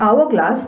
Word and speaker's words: hourglass: this word, the hourglass, the word begins with a consonant but the sound is of vowel, that is h is silent. Hence, an hourglass is the correct answer.